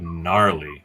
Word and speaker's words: gnarly: Gen xlang we have gnarly so a silent G gnarly have you ever heard